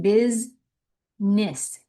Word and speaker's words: business: Becomes bis like B I Z. Bisness. Two short eyes. Business. Business not bes cam era cam era cam cam cam camera a becomes camera cath catho catho Catholis.